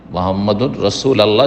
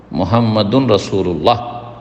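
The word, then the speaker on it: محمد رسول الله: মুহাম্মাদুর রাসূল আল্লাহ নাই, মুহাম্মাদুর রাসূল আল্লাহ যে পড়লেন এটা ভুল উচ্চারণ। মুহাম্মাদুন রাসূলুল্লাহ যদি শুদ্ধ পড়তে চান।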